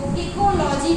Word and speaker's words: ecology: ठीक है, अब देखिएगा आगे चलकर ओइकोलॉजी को इकोलॉजी कहा जाने लगा, मीन्स ओ प्रोनाउंसिएशन में स्किप कर दिया गया।